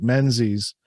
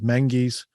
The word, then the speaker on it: Menzies: It looks like Menzies, but you pronounce it in their vernacular as Menzies.